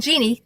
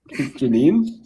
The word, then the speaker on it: Janine: My name's not Jeannie. Get it right. Jeannie? It's not Jeannie. Is it Jeannie? Nope. Janine? No. Janine. Close. Janine? Yeah. Okay.